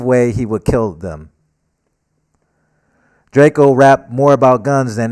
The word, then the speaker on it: Drakeo: The name Draco, which is exactly how you pronounce Draco, hey, I don't like how I wrote that.